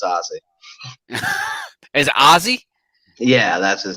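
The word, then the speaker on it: Ozzie: Is it Ozzy? Yeah, that's his name. Yeah. Like Ozzy Osbourne, like it. Yeah, like Ozzy Osbourne, but not spelled with the Y, the I-E.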